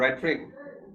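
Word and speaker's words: rhetoric: देखिए, अच्छा, इसका प्रोनाउंसिएशन है रेट्रिक, एच नहीं, रेट्रिक, है ना, रेट्रिक, है ना, नाउन है।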